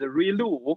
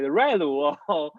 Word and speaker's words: ReLU: rectify the linear unit also known as relu uh that is how i pronounce it you can call it relu english is too complicated